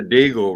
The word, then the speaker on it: Deagle: Look at the Deagle report. Rhymes with beagle with the D.